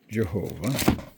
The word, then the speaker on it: Jehovah: Now in English they pronounce it Jehovah, which is fine.